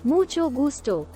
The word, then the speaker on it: mucho gusto: correctly is also important the CH sound in mucho is pronounced like the CH in church and the g in